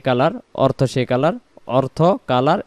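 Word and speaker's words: قُلْ: কুল হু ওয়াল্লাহু, কুল হু ওয়াল্লাহু, এই শব্দটাকে আমরা কুলু বলবো না, উচ্চারণ কুল, কুল, কুল, কুল হু ওয়াল্লাহু, কুল হু ওয়াল্লাহু, কুল হু ওয়াল্লাহু আহাদ, আহাদ, আহাদ।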